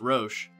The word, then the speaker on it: Roche: to him for clarifying that it is actually pronounced roche rosh is such a compelling character not for